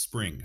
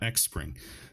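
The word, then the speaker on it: Xpring: right here so keyless is a spring it's pronounced spring for the last time not next spring spring investment again they're kind of just building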